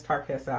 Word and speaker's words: Tarqueza: so first of all the correct way to say my name is tarqueza i get that all